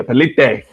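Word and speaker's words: Palicte: How you pronounce the last name? Because I don't want to fuck it up. Palicite. Yeah, Pelite. My Wakandan brother said that.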